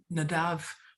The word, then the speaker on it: Nadab: Some English translations refer to Nadab as Nadav, because the final letter in Hebrew, the bait can be pronounced as vait, or bait as a soft sound or whatever.